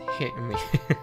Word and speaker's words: Hime: Translator knows Hime is a suffix for princess. It is pronounced Hime.